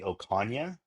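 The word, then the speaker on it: Ocaña: So, in my last name, it actually the N is it En, right? So, my last name is actually Okana, but you got it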